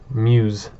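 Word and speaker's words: Meux: So, Admiral of the Fleet, the Honorable Sir Headworth Mew. So, quite a title. Or Mews. So, it's pronounced Mews. Sir Edward Mews.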